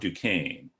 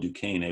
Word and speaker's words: Duquesne: So if it's called Duquesne, we don't like it because it's French, and plus we'll want to pronounce the ESQ.